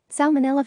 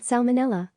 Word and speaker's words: Salmonella: mo NE al la the first L is pronounced unlike the silent L in salmon the fish Centers for Disease Control